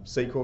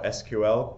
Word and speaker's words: SQL: interpreted by a shell when we can inject sequel code or SQL depending on how you want to pronounce ur or no sequel we can inject